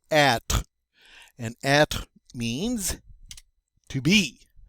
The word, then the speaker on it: être: All right, and again, we don't pronounce that final E. We don't say être. We say être.